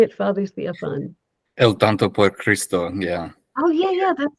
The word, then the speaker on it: El Tonto por Cristo: El Tonto por Cristo, yeah.